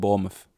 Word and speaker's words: Bournemouth: more south than London they don't bother pronouncing the end so if anyone wants a heads up don't call it born around people from Bournemouth call it Bournemouth although that just sounds